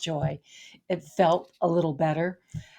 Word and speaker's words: Joie: that name Joy somehow even though it's still pronounced Joy it felt a little